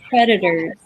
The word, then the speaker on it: predators: and then predators, predators, Predators, predators, predators, predators. Yeah, so it's predators. predators. A lot of times the D and the TE almost sound alike.